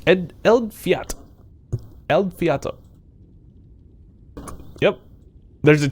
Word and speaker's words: Eldfjall: in case you're wondering how to how to pronounce uh it's not al fajal in case you're wondering because that's how it's spelled uh it's ed el fiat el fiato yep there's a t where do you find